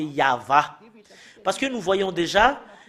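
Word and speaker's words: יהוה: le fait de prononcer le tétragramme Yod, He, Vav, He, c'est ça qu'on le prononce, c'est Yahva.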